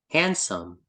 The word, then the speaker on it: handsome: Handsome. Handsome. Yes, wala ding D yung babasahin yung D. Handsome. Handsome. Wala yung D. Huwag mo siya babasahin.